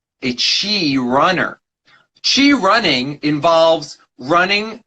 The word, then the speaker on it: Chi: There's books about Chi running. There's videos. I'm sure there's plenty of YouTube channels about it as well. And essentially, it's spelled C-H-I and then running behind it. So Chi running, C-H-I.